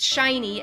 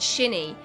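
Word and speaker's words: Shionne: months to remember that shiny wants to be pronounced shiny and not shinny. Because for some reason I was like, this is like from the Japanese name Shin, and then an E sound at the end.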